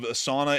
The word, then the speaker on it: Sana'a: I just found out from Matthew today, he went and pulled up what the official translation or pronunciation of Sana'a is in English, and it quite literally is like sauna, like a sauna.